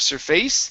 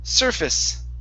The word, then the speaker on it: surface: is the word surface the stress is at the very beginning instead of surface and it's surface try that surface very good